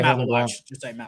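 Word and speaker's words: Maluach: I cannot pronounce his name at all. Malawach. Yeah. Just say Malawach.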